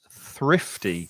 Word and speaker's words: thrifty: The pronunciation's quite difficult with, you have to put your tongue between your teeth to make the th sound, and then there's a f sound, so your top lip goes over your teeth to make the f sound.